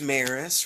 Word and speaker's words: Maris: hope everybody's doing awesome my name is maris rhymes with paris and guess what i